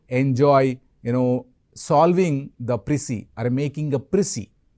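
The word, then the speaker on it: précis: PC is misspelling juice pronunciation p r e c i s okay so prissy is a you know not an English word okay French term condensing the given texture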